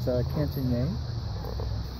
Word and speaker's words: Cantigny: This is the Cantigny event, or Cantigny, or Cantigny, as some folks who don't know how to pronounce it, French pronounce it Cantigny.